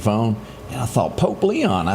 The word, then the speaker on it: Leo: and I thought Pope Leon. I said that's pretty good from America. I thought it was Leon.